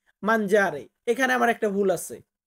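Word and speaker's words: mangiare: হয় মাঞ্জারে মাঞ্জারে দেখুন বাংলা উচ্চারণে কিন্তু মাজারে লেখা আছে কিন্তু এটা উচ্চারণ হবে কি মাঞ্জারে এখানে আমার একটা ভুল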